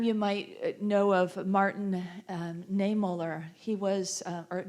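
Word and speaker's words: Niemöller: might know of Martin niemoller he was at nine Mulder I believe is how you say it he was a Lutheran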